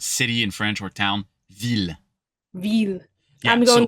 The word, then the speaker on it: ville: This one pronounce it like a hard L.